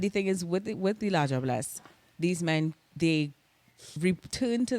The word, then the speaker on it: La Diablesse: literally, so it's La Diablesse, and of course that's like proper French, but we would have our pronunciation of it would be La Diablesse.